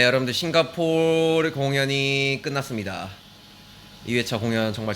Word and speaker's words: 싱가포르: was it 싱가포 싱가포 발음이 싱가포 이렇게 해야 되 싱가포 싱가포 싱가포 coming fr I want it 패션이 멋졌어요.